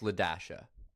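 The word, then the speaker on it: Li-Dasha: not move right here this is spelled Li Dash uh this is pronounced lead Dasha God I hate drawing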